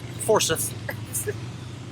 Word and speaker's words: Forsyth: now at Forsyth Park, or as the Google Maps lady pronounces it, Forsyth.